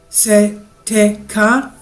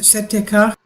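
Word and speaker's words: Si-Te-Cah: I'm reading it S-I-T-E-C-A-H. Setekah. Maybe that's the way to pronounce it. Setekah.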